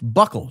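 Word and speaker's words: buccal: It's pronounced buckle, not ble.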